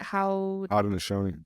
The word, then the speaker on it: Haudenosaunee: Haudenosaunee.